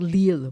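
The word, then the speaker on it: L'Isle: extremely wealthy and it's on a river called lille which i think is very kind of strange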